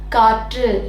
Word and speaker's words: காற்று: தெரிஞ்சாச்சு இந்த ரகரமே அதோடைய மெய்யெழுத்து ர் கூட சேர்ந்து வருது ஒரு சொல்லில் அப்படின்னா அதை நாம எப்படி உச்சரிக்கணும் ட ட அப்படின்னு உச்சரிக்கணும் எடுத்துக்காட்டா காற்று அவ்வளவுதான் அடுத்து அந்த வல்லின ரகரம்